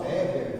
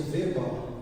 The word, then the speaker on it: Weber: viu real Eduard eh aqui tá a pronúncia web normalmente o pessoal fala Weber Weber mas em alemão seria veba veb então essa unidade de